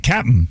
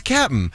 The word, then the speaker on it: Cap'n: And you said it right, Cap'n. It is Cap'n.